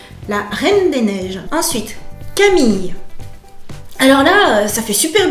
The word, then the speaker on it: Camille: On prononce pas le e de Camille.